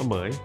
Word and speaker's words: เหมรฺย: อ่าน ว่า อะไร วะ ตอน แรก ผม ก็ พยายาม แบบ อ่าน อยู่ แบบ เหม ห เห เหม รุน เหม รุย เหย นะ ครับ มัน อ่าน ว่า เหมย เหมย เนี่ย เป็น พิธี